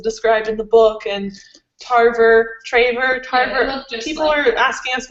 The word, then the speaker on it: Tarver: in the book, and Tarver. Yeah, People are asking us why we have such a hard time pronouncing his name. Because we're not perfect. Just saying. It's Trevor. It's Tarver. Right? It's Tarver.